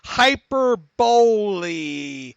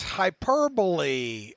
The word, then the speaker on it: hyperbole: Jonathan lanes writes in hyper Bailey on the syllable not hyperbola oh he's trying to say it's hyperbole oh okay by George I